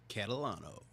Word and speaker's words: Catalano: is Mr Joey say your last name correctly Catalano oh so I did say it right okay